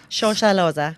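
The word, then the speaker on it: Shosholoza: So that was the Soweto Gospel Choir, and how do you say the name of the song? Shoshaloza. That's how you say it.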